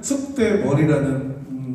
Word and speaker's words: 쑥대머리: 노래는 숙대머리 하지만 띄어쓰기는 숙대머리로 발음을 하셔야 돼요.